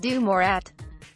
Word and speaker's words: DeMorat: Respect on my nephew's name, it's pronounced DeMorat.